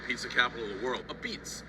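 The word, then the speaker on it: apizza: A beats like this. You say, I just learned it, but you say it like this. A beats.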